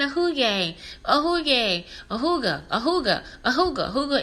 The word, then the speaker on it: Hygge: It's a hooga. Yeah, it's spelled Hygge. Nothing like it looks, but yeah, hooga.